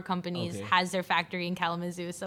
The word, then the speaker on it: Kalamazoo: Is that even how you say it? Kalamazoo? No, it's Kalamazoo. Kalamazoo.